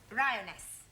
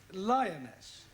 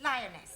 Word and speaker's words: lioness: of the following lion roness lioness roness no l l r r you're not saying it right very sorry I know try saying roness lioness good well in future